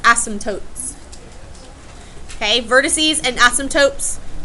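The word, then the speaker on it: asymptotes: as y m p t o t s ASM tootes okay vertices and ASM tootes for a hyperbola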